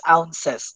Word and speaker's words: ounces: by the way that that that should be pronounced ounces of coke in our in our language we use it as owns no it owns 12 bones yes sir